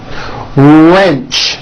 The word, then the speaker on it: wrench: Detach, teach, porch, march, patch, wrench. Notice the strong R sound at the beginning of that word.